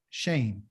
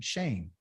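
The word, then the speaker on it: שם: Shame. Shame is name. Okay, that's what it means. And it's spelled S-H-E-M.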